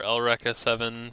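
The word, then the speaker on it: Eureka Seven: The philosophy of Eureka 7 or Elrea 7 since that's how it's pronounced in the anime.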